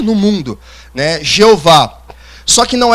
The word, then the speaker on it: Jeová: A primeira teoria da transliteração do tetagrama é Jeová. é a pronúncia que nós conhecemos latinizada como Jeová.